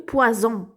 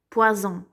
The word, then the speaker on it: poison: Et ça, c'est le poison. Le hout ou sim, poison. Un seul S, ça se prononce comme Z.